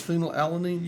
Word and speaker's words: phenylalanine: oh fill out the phenylalanine right is it phenylalanine look at it and see does that make sense phenylalanine yes okay to you no no I don't